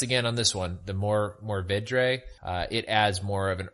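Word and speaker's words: Mourvèdre: pronounce this, but it's Mourvedre or Mourvedre. I have no idea how to say that exactly, but it's Mourve with a little accent over it, Dre.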